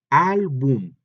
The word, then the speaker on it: álbum: Otro ejemplo, álbum, son dos sílabas, al y luego boom. Entonces, boom es la última, al es la penúltima, y estamos viendo que en al, la letra A es la que lleva el acento, por lo tanto, también